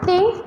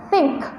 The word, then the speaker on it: think: I think, ya, usahakan kalau menyebut something that end with K yang berakhiran huruf K itu kayak ada bunyi letupan gitu ya. Jadi, nah, think but think.